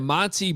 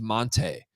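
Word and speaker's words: Montee: the background um because he was Monty ball like his entire Wisconsin Career and then all of a sudden I think it was his senior year he's like no actually my name's Monte Monte ball you guys are pronouncing it wrong this entire time and I'm like well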